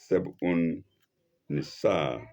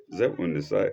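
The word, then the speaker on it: Zeb-un-Nisa: A verse of Seb'un Nisa, of a verse of Seb'un Nisa. Seb'un is Zeb'un. Zeb'un Nisa is spelled capital Z-E-B dash U-N dash Nisa. A lengthened. Nisa.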